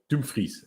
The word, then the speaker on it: Dumfries: do you think about getting at dumfries or dumfries as he's apparently pronounced in dutch 15 million has a